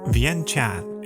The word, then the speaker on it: Vientiane: Vientiane, or Vientiane if you want to pronounce it like the locals, is the capital and largest city of Laos.